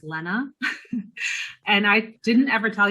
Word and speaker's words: Lena: i'm sorry i i my name is actually pronounced lena and i didn't ever tell you that probably